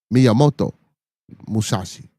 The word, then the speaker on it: Miyamoto Musashi: Miyamoto Musashi. And I actually pronounced it correctly.